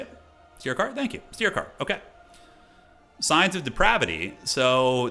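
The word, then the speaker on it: Styrkaar: Steercar, okay.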